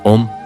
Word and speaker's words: ओम: ओम मंत्र का सही उच्चारण ओम ए यू एम का उच्चारण तीन भागों में होता है।